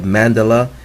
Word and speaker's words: Mandela: the second meaning of Mandela is Mandela it sounds like I'm saying the same word in it I did mandela mandela is how you say it man dela Mandela Mandela de la